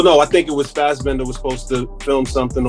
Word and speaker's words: Fassbender: Fassbender.